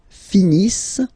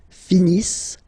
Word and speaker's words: finissent: Ils finissent. So remember, as usual, when we've got the verbs E and T not pronounced. Ils finissent.